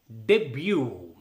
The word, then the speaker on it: debut: ఉచ్చారణ విషయంలో రెండు పదాలు మనల్ని కొంచెం ఇబ్బంది పెడుతుంటాయి. అందులో మొదటిది DEBUT, డెబ్యూ.